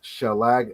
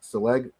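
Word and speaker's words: שלג: In modern Hebrew, which is Indo-European, it says seleg when it says shalag, not seleg.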